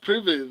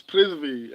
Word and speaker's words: Prithvi: Dark Soul was basically correcting us, like it's not Privy, it's Prithvi, and I was like, nah, man, I'll try to get it right.